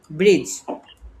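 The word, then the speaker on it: bridge: যদি একসাথে হয়ে যায় ডি এবং জি। তাহলে আমাদের ডি এর উচ্চারণ হয় না। আর হচ্ছে বেজ। এখানে কিন্তু ডি এর উচ্চারণটা হাই। তাহলে ডিজি যদি আমরা একসাথে পেয়ে যাই তাহলে আমরা হচ্ছে ডিটা সাইলেন্ট করে দিব।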